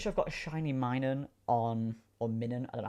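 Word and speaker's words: Minun: I'm pretty sure I've got a shiny min on or min. I don't know how you pronounce it. I say mining cuz it's like minus.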